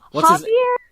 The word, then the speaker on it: Javier: No, it's J. But they pronounce it Javier. It's Javier or Spanish.